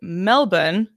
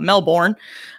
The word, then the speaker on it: Melbourne: So you're in, I will say it the correct way, Melbourne, I believe is how it's supposed to be pronounced. We call it Melbourne.